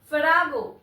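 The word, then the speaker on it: farrago: The pronunciation is Farago.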